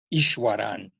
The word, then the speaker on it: Easwaran: You better spell that name. No, it's Easwaran, Ishwaran.